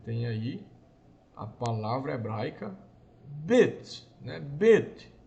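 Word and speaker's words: בית: Você tem aí a palavra hebraica bet, né? Bet. Não é beit, não, viu, irmão? Não se pronuncia beit.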